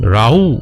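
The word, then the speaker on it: Raúl: রাউ আমি উচ্চারণ করছি, অ্যাকচুয়ালি তাকে রাহুল আমরা যদি বলতে পারি, বাট তিনি একজন মেক্সিকান, এর জন্য তাকে রাউ বলা হয় মেক্সিকোতে, এবং মেক্সিকান নেম অনুযায়ী রাউ উচ্চারণ করা হয়।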